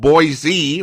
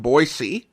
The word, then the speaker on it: Boise: city where we have pronunciation arguments with those who want to call it boisey rather than boyy putting the corre pronunciation